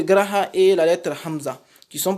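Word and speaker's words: ء: Le hamza également, c'est comme le a que nous prononçons en français.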